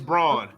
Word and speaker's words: Braun: Is it Braun or Brown? It's Braun. They be saying Brown though. Yeah, it's Braun.